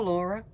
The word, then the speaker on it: Laura: But oh, if you're new here, my name is Laura, or Laura, Laura. In Finland we just pronounce it Laura, but I don't live in Finland.